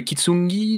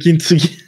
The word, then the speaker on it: kintsugi: Le kitsungi? Le kintsugi. Kintsugi? Comment on prononce? Ouais. Kintsugi. Attends, je te l'écris. Kin comme Anakin. Ah, Tsuki comme Tuki, mais quand t'es bourré.